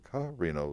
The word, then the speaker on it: Carrino: The Publicity Committee, the co-chairs of the Publicity Committee, Johanna Perrino, and that's spelled P-E-R-R-I-N-O because I'm Carrino, C-A-R-R-I-N-O.